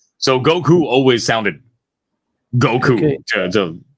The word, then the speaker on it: Goku: Dragon Ball and uh Spanish pronunciation is actually very similar like the way that we pronounce our V are very similar to the way that the Japanese pronounce their vowels so Goku always sounded